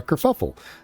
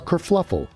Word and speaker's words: kerfuffle: A kerfuffle. A kerfluffle.